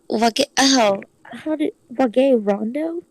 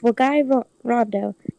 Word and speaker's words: Wagai Rondo: Oh look, this insanely cute high school girl is Wage Rondo? Rando? Wagai? No, it's Wagai Rondo, if I remember how Ghostly pronounces it.